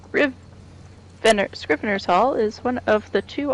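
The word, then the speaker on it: Scrivener's Hall: Morrowind Adventure screen rearsal is I totally pronounce mispronounce that it's scriv en scrivener's Haul is one of the two all-new dungeons including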